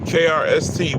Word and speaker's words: KRST: Mama Hustle goes to a church called KRST, which is like Christ, but they spell it differently.